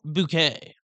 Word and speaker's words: Bucket: The central character is an eccentric and snobbish middle-class social climber bucket bouquet who insists that her surname is pronounced bouquet.